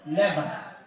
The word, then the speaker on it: lever: How will you pronounce this? You will say it's lever, B? You pronounce it lever. So this is not liver. This is what? Lever. Liver is inside your body.